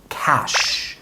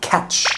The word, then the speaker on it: cash: ไร ครับ number one Cash ลง ท้าย ด้วย S ดึง เสียง ยาว นิด นึง Cash Cash ไม่ ได้ ออก เสียง ว่า Catch cch ก็ คือ จับ